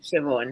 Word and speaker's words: Siobhan: And I think it was, I can't pronounce her name. I don't want to mess it up. Siobhan? Siobhan.